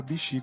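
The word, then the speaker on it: 菱: E Hishi, que fica sonorizado para Bishi quando juntamos com a primeira parte, e é losango.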